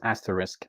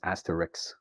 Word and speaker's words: asterisk: result of metaphysis is the word asterisk of course you can carefully pronounce it as asterisk but you would often hear it as Asterix so and the sounds have switched places and okay it's interesting